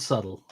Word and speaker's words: subtle: I used to say you're as subtle as the bee in the word subtle which is a very